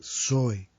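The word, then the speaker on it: ζωή: una P-S-U-J-E, puché, y la palabra zoe, que se escribe con Z, Z-O-E, zoe.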